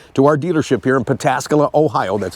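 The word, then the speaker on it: Pataskala: you pull in to our dealership here in pascala Ohio that's how you say it we are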